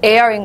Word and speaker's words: heir: 이거는 왜 heritage라고 하면서 얘는 air인 거죠? 얘는 air이에요. 그냥 그렇게 외우세요.